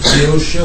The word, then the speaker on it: Boeotia: It's believed that he was born in Thebes, in Boeotia. How do you pronounce it in English?